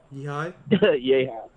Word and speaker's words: Fred Yehi: What I like about the character of Fred Yehi, say it right, Yehi? Yehi.